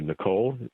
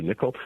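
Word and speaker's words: Nicoll: postto with who's a very famous neuroscientist Roger niichel some people call him Roger Nicole correct pronunciation is Roger nickoll Roger is a synaptic neurobiologist at UCSF and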